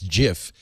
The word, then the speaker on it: GIF: like that debate over whether you pronounce the the graphics file format gif as GIF or gif there's no I mean there's a right answer I guess because the guy who invented it says it's Jiff but you and I